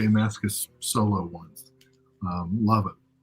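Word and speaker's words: Mascis: going to say J Mascus is name wrong I totally forgot how to say it but it is Mascus thank you uh next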